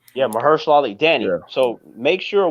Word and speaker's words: Mahershala Ali: I am very curious to see what Marshala Ali, I think that's how you pronounce his name. Yeah, Mahershala Ali.